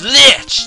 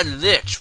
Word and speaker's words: Lich: Rises and an evil shape congeals it is Lich the the fiend of Earth lies get stitches if you get attacked by Lich what is it it rhymes with [ __